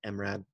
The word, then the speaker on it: IMRAD: help understand what the imrad is but it's an acronym it's pronounced i'm rad or i pronounce it i'm rad a lot of people pronounce it mrad doesn't matter uh stands